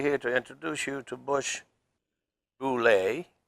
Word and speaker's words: Buschle: It's German and Irish, and it's pretty hard to pronounce. It's called Buschle.